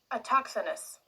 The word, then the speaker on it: autochthonous: Autochthonous.